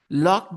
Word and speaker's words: locked: you know you know that the D that comes into the second and the third form of the verb can be pronounced as t uh what I'm trying